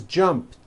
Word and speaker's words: jumped: So jump becomes jumped with a T sound at the end. Jumped. Of course, the word is spelled with an ED ending. It's just pronounced as a T.